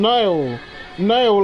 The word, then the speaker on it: Nail: How do you say your name? Nail, like Nail from Dragon Ball Z.